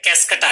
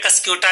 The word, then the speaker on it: Cuscuta: Parasites का जो example है स्टूडेंट्स वो है कैस्केटा। देखिए इसको या तो आप कैस्केटा कह सकते हैं या कस्क्यूटा भी कह सकते हैं, स्पेलिंग है CUSCUTA।